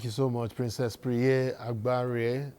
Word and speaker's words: Agbare: Thank you so much, Princess Priye Agbare. Did I get that right? Agbare? Princess Priye Agbare. You're not pronouncing the M.